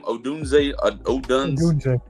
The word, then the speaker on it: Odunze: Odunze.